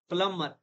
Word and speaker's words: plumber: Plumber यहाँ पर B silent है.